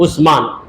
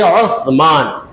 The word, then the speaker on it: عثمان: ہے۔ اردو میں بھی ہم جب کہتے ہیں حضرت عثمان کا نام عثمان سے سین کی آواز نکال دیتے صاف صاف عثمان، مگر ہے عثمان، ایسا تلفظ انگریزی میں نہیں۔ تو وہ سا کا